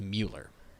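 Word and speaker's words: Müller: but there's an um over there so it's Mueller okay so instead of because usually U is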